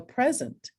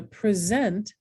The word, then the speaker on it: present: to give you a present if it's a verb it's the second syllable is accented i'm gonna present you with a present okay um the oon